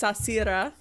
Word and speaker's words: Sarcyra: Sarcyra. It's so Sarcyra. It's doesn't look like how it's spelled. But I love that. It's like sashimi shira.